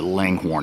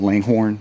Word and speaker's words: Langhorne: Wanted to do a quick walk around the Langhorne House or the Langor House as the locals pronounce it.